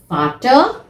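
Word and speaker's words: Vater: they फादर द फादर दी मुटर दी मुटर देखिए आपको इसको मुटर नहीं बोलना फाटर नहीं बोलना र जो है वो साइलेंट रहेगा almost so द फाटर बी मुटर नाउ जैसे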